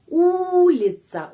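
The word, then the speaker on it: улица: terus ada kata lagi ulica ulitsa ulitsa itu jalan ya u l i c a gampang ya Membaca sama caranya seperti dalam bahasa Indonesia ulitasa dan ada video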